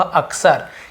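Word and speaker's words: often: window ही ऑफर वह अक्सर यहां पर टी साइलेंट है इसे बोलेंगे आफ्टरनून बोलेंगे अक्सर लेकिन ऑप्शन नहीं बोले लिखेंगे जरूर लिखने समय आपको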